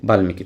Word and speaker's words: বাল্মিকি: তাহলে ল আছে ল ল থাকলে উচ্চারিত হবে বাল্মিকি চিন্ময় তাহলে ন আছে সম্মান ম আছে যখনই সাতটা বর্ণের সাথে মফলা বসবে অবশ্যই অবশ্যই কি মফলা উচ্চারিত হবে তাহলে বাল্মিকি দেখেন বাল্মিকি উচ্চারিত হয়ে গেল আধিকার অস্বীকার হয়ে যাবে